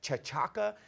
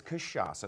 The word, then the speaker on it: cachaça: Or how do I even, it looks like chachaca, but it's cachaça. That's how it's pronounced.